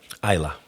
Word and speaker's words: Islay: and they know that Islay means smoky, or Isla, as is often mispronounced, they'll flick through a whiskey menu and they'll see Islay and they'll just turn the page completely.